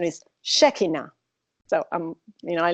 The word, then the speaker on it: Shekinah: Shekinah now I learned Shekinah some people say Shekinah in the United States but the correct pronunciation is Shekinah so I'm you know I learned that so